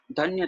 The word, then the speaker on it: धन्य: है ना, वहां पर जो है यैया एज अदक के साथ उच्चारण नहीं किया जाएगा, वहां पर उच्चारण किया जाएगा धन्य धन्य, ठीक है।